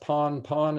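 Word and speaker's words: pan-pan: is in french so that is pan pan what i see is pronounced pawn pawn it's done three times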